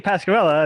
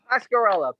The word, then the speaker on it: Pasqueralle: Yeah, because if I say Pasqueralle, and then they'll never find you. Pasqueralle, Pasquerelle. End of the E, pronounced with an A.